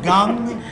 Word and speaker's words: Kang: You know, I think they call him Gung, but it's spelled Kang.